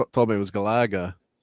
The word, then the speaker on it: Galaga: And says, "Yeah, Gala Gala. Gala."